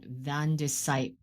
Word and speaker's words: Van de Sype: Today we have the pleasure of speaking with a great producer by the name of Vandesight. And I was wondering how to pronounce that. Vandesite.